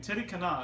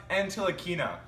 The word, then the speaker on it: Ntilikina: A great pick by the Mavericks getting Titi Kana, a great guard from France. What do you think about the pick? You pronounced it completely wrong. You call yourself an NBA expert, a broadcaster. It's pronounced Ntilikina.